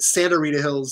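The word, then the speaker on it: Sta. Rita Hills: It's an old school abbreviation of Santa. So Sta Rita Hills is actually pronounced Santa Rita Hills as you look at that.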